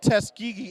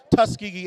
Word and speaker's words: Tuskegee: Greg they're showing off teskigi airs Tuskegee airs and I say it correctly all right all right